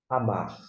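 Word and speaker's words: אמר: Feito esta observação, eu pronuncio, devido à minha questão, vou dizer assim, regional, amar. Amar. Agora, você pode dar uma tremulada no R e parabéns por tal coisa.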